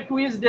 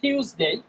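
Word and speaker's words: Tuesday: টিউসডে এইটা আমরা ভুল করি অনেক সময় অনেকে টুইসডে বলে বা নানান ভাবে বলে শব্দটা টিউসডে টিউসডে টিউসডেই পরেরটা দেখি এইটা আরো বেশি ভুল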